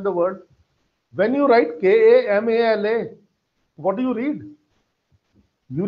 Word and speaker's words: Kamal: When I'm writing it in Hindi and I'm writing like Kamal, I just wrote there, then in the end, la ends with certain very subtle, very soft pronunciation of A, which is completely missing.